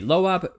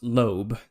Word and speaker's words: Loab: this okay but anyway loab sorry pronounce lobe my my mistake so lobe I I use lob from now on was first discovered in